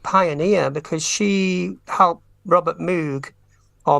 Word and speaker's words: Moog: And she was a electronic music pioneer, because she helped Robert Moog, or Moog. Some people say Moog. But it's spelled M-O-O-G.